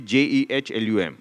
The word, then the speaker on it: Jehlum: And and how do you pronounce it? Jehlum. Jehlum. Jehlum. Jehlum. Okay. Jehlum. Right. Yes. That So- is the Kashmiri pronunciation of it.